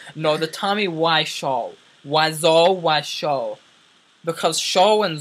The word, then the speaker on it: Wiseau: and zo Ry the the Tommy why show not why as in why why would you do that to me liser why is in why why is up okay Tommy why show because show rhymes with zo and my name it's